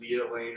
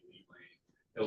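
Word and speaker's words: Lea Lane: All right, so on your map, you can see, I believe it's pronounced Leah Lane or maybe Lee Lane, LEA.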